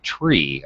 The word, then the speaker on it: three: our tree but apparently when you're using this alphabet when you're up I don't know pilot or whatever you're supposed to say tree and that's it also that's new for